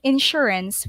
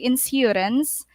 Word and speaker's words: insurance: And then S plus Y is SH, insurance. We don't say insurance.